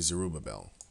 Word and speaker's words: Zerubbabel: ruby belt because like I said mmm they spell it different here sir uber Bell it's actually zerubbabel zerubbabel Bell is actually zero bevelle the latin